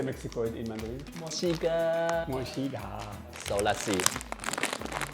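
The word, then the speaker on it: 墨西哥: Mochiga.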